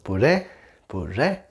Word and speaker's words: puré: So puré, puré, re, right? The stress is in the e sound and the patata or papa.